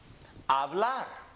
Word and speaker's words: hablar: If a word ends with an R, if the last letter of the word is an R, we're going to go up on the last syllable. Hablar.